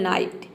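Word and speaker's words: night: सबसे last rule है यदि किसी वर्ड में आई जीी एच अगर एक साथ हो तो आई जीएच को हम आई प्रोनाउंस करते हैं फॉर एग्जांपल नाइट यहां पे देखिए एन का हो जाएगा न और आई जी एच का हो जाएगा आई टी का हो जाएगा ट ये हो जाएगा नाइट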